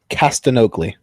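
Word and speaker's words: Castagnoli: clao yep s CI claudo cast anogi it's like Manu jogi close except not at all so yeah I I'm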